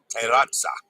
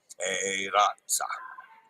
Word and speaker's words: Terrazza: Terrazza. Roll the R, remember. E is pronounced A. A is in day. Yeah. Terrazza. Okay. Terrazza.